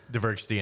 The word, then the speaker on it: Dvergsten: Dvergsten, actually.